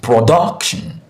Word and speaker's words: production: Breaking it down into a component syllable, we have pro, we have doc, we have shun. Since we have shun here, the stressed syllable should be the syllable before the shun.